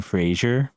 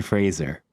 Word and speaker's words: Fraser: can think of is Brendan Frasier when it's Brendan Fraser and I don't know